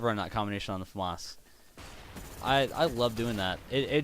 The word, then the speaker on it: FAMAS: I say FAMAS, I think that's how it's pronounced.